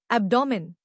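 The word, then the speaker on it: abdomen: एब्डोमिन नया लफ्ज एब्डोमेन। इसको तोड़ते हैं। अब जोर अप पर है।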